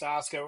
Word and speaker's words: Asuka: Like, yeah, they may not know that Shinsuke Nakamura's name is pronounced Shinsuke Nakamura, and they may not know that Asuka is pronounced Asuka.